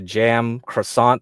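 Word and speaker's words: Cem Karsan: a Turkish guy called Kem ksan you can look him up okay and I think his name is mostly pronounced closer to jam croissant that's why his like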